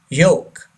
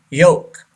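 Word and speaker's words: yolk: number nine joke joke this L is silent yoke say this word yoke the last one number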